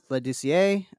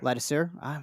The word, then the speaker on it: Leducier: Leducier ends up in second. Ladisser. See, I always go too French, I think, sometimes with my French pronunciations. Yeah. Ladisser.